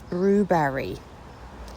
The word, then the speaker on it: Brewberry: It's brewberry. Brew, like when you brew coffee.